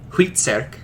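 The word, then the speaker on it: Hvitserk: beer and ironside and based off of the danish pronunciation at the time most likely most likely huitserk uh and dragon ball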